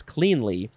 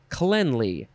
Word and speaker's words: cleanly: So this second form of cleanly is actually cleanly. I said it wrong. I pronounced it wrong. The first form is cleanly. Second form, cleanly.